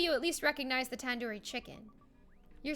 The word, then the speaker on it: tandoori: Surely you at least recognize the tandoori chicken. You're saying it wrong. Wait, really? Tandoori? Tandoori. The do isn't like door. The do isn't like in door. It's like in doo-doo head.